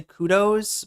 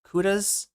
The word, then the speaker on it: kudos: Canadians and Americans say kudos, but kudas? Kudas? What did he say? Kudos. Yeah, kudos. Yeah, is the English word established in the 1800s.